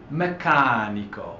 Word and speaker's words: meccanico: So we have meccanico. Well, the stress doesn't fall on the last syllable, on the second to last syllable rather. The stress falls on the third to last.